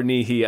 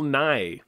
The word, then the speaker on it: Nye: weird like no obviously i love bill nye or nihi i've i don't know how to pronounce his name actually i think yeah uh i think you were right the first night it's bill nye oh the science guy